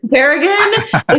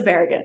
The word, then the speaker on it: Barragan: do you pronounce Bagan I say baragan is like Thea or Melissa Baran we can do both okay well it's been